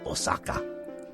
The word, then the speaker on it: Osaka: I'm doing the pronunciation properly, like you would if you were saying... Madrid. We were staying in Osaka.